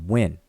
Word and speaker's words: wn: These 2 glyphs are transliterated as WN, and we pronounce it when.